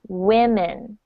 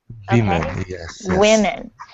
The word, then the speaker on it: women: we're here in person there's a different o sound in the word woman than there is in the plural women women so it's not it's